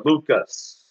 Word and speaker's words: Luqas: Luke, or Luqas, in his original Hebrew pronunciation of his name, Rabbi Luqas, says in St.